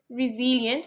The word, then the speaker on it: resilient: the word resil resilient I remember that you have to say re not R say res resilient kind of put stress resilient can you say that